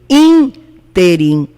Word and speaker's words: ínterim: nesse espaço de tempo tem acento no primeiro i in team ela é uma proparoxítona real lembra do mapa